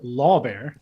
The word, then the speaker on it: Lohrbeer: so so uh my name is law bear it's against the law to shoot a bear um so very good